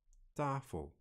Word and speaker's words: tafel: Please note, number 7 has the mute vowel. These words are pronounced tafel, zakken, boot.